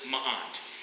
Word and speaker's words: ma'at: And they bring this concept called ma'at. And so there's the symbol, and that's how you pronounce it, ma'at.